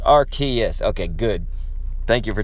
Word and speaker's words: Arceus: sort of shield stream farewell kendo also it's pronounced Arceus okay good thank you for telling me opinions